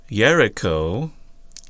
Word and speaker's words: Jericho: you may not know this but the word Jericho is actually pronounced yerico and or the word actually means it's Moon